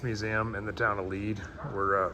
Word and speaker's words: Lead: It looks like Lead. It's pronounced Lead.